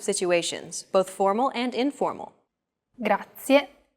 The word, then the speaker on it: grazie: both formal and informal grazie a very common mistake many learners make when pronouncing this word is that they don't pronounce the final e clearly listen closely to how i pronounce this word another aspect that can